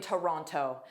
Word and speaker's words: Toronto: say the weather in Toronto, I would pronounce that T most likely. But the first sound is always unstressed because it's thewah.